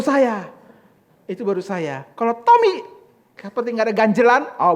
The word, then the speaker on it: Thomy: h o m y Jadi ngomongnya harus ada h-nya Tommy begitu Nah itu baru saya itu baru saya kalau Tommy seperti Enggak ada ganjelan